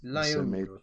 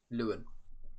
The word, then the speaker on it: Calvert-Lewin: Leon, was it Leon? Leon? What did you say his name was? Dominic Calvert-Lewin. Lewin.